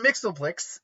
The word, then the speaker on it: Mxyzptlk: yeah it's still immensely powerful overly powerful Mr mixoplex uh and that is how it's pronounced is a fifth dimensional imp from The